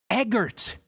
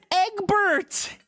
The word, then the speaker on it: Eggert: wrong the whole time Eggert Benedict I've been reading it as Eggbert he's not some Homestuck